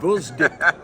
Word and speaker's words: Gvozdyk: have it down pack vck vck okay yeah the g is silent okay vck what are